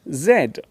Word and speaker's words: Z: letter next to me it is the letter Zed in British English we usually call this the letter Zed in American English this letter is pronounced Z which can cause some